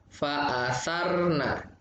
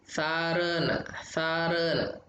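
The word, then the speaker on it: فَأَثَرْنَ: Ro, fa'asarna, sarna, jangan sarena, fa'asarna bihi.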